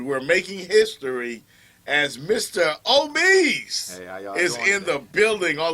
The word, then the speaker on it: Omeez: And the name is actually pronounced Omeez for the southern slang, but it's spelled Omeez.